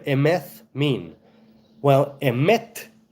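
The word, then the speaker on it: אמת: What does the name Emeth mean? Well, Emet, not with a soft T, but with a tough T, right? A hard T, a T, not a th. Emet means truth.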